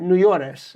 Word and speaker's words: Nuyores: Um, before we uh get into your whole backstory and all that, tell us about Neores. Am I pronouncing it right?